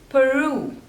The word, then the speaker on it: Peru: Panama Panama next is Peru Peru so there are two slippers and the stress is on the second one Peru Peru Peru Peru